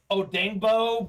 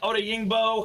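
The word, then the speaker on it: Odeyingbo: uh we got deo i think it's pronounced like odengbo but i know it looks like oda yingbo however you want to say it we got a little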